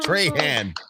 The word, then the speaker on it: Trahan: to our new friend, Alyssa Trahan, like Strahan, but Trahan. Hello. Yay. Yes, exactly. Hi. Welcome. I was wondering if that was how you pronounce it, just because it's spelled almost the same without the S.